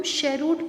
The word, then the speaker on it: cheroot: तो स्टूडेंट्स, ये जो CHEROOT है, इसको हम शेरूट पढ़ेंगे। इसका प्रोनाउंसिएशन दिस प्रोनाउंस्ड एज शेरूट, ठीक है, जिसका होता है हिंदी में मीनिंग चिलम।